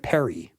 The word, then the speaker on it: perry: and for cakes and Ale and cider and Perry I had to look up Perry you know